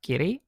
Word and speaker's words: 木: Jangan moku tapi bacanya qi.